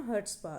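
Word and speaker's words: chutzpah: है, क्या कहते हैं, हर्ट्सपा। सी इसमें साइलेंट रहता है, अगर स्पेलिंग याद रखने के लिए आप बोल सकते हो चर्ट्सपा, वैसे क्या है, इसको कहते हैं हर्ट्सपा।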